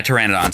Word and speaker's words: Pteranodon: Yeah, Pteranodons.